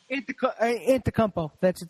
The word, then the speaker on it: Antetokounmpo: Antetokounmpo. I think that's how you pronounce it.